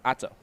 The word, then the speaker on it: Otto: Now, how do you say her name? She said go by Otto.